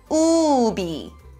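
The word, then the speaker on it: 우비: read it okay everyone the circle doesn't have any sound so we don't have to pronounce it only this one this is so it's Ubi Ubi so in Korean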